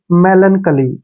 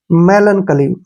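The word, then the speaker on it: melancholy: ओ आता है तो सी एच का उच्चारण क हो जाता है और एल को हम ल लिखेंगे और वाई का उच्चारण छोटी ई के रूप में करेंगे ऐसे बन जाएगा यह मेलन कली ठीक है ना क्या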